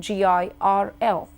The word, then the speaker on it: girl: If you look at girl in spelling, G-I-R-L, I and R together, there is no R in pronunciation. It's just the girl, girl. Similarly, when you say world, there is O and R coming together in that word in spelling. In pronunciation, it gives you world. And then you say L and D. You don't pronounce R at all. You're not saying world. You're not saying girl, for instance.